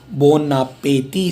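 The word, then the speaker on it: bon appétit: Bonapeti. C accent of E. It is, you have A. Yes, this is what we were discussing. And T is silent.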